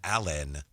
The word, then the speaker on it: Allan: I actually think the two ways should be pronounced differently, but it's very subtle. Alan and Allan.